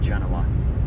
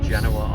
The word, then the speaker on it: Genoa: Ohio we're going under Dave's pronunciation of Genoa like the salami Genoa salami Genoa Ohio and I copied and